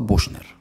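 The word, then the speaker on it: Büchner: The author of this book is Ludwig Buchner, or Buchner according to the German pronunciation.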